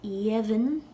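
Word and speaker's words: dheimhin: When we lenite a D that comes before a slender vowel, like in this case, it'll sound like a Y. Y. Jevin will then turn to Yevin, and that'll be our lenited stem.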